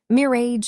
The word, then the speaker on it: mirage: Mir age and marriage. Mirara G is pronounced Mirage, said Valency shortly, picking up her tea and her beans.